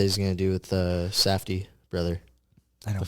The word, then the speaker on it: Safdie: The fuck is a Safdie? Just say safety. Just say it right. Oh, no, Safdie.